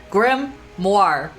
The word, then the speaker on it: grimoire: you mean by that grammar rhymes with Noir Noir for more okay like film Noir Grim more French